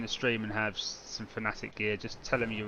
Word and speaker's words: Fanatec: Actually, Fanatic, as it is actually correctly pronounced, Fanatic.